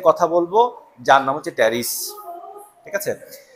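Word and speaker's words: Pteris: এর উচ্চারণ থাকবে কিন্তু টেরিসের ক্ষেত্রে পি এর উচ্চারণ নাই টেরিস কেমন এটা হচ্ছে টেরিস এই টেরিসের ক্ষেত্রে পি এর উচ্চারণ নাই কিন্তু এখানে পি এর উচ্চারণ আছে ড্রাইপ টেরিস তাহলে ড্রাইপ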